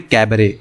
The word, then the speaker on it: cabaret: English में कैमरे okay इसकी स्पेलिंग होती है सीएलबी ए आर यू जी लेकिन यहां पर आपका जो होता है वह क्या होता है साइलेंट होता है तो इसलिए इसको हम बोलते हैं कैमरे रहेगी अब इससे